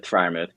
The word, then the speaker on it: Freiermuth: Freiermuth? Freiermuth.